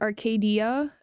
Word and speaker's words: Arcadia: Like I pronounce it Arcadia. Like I emphasize the dia at the end.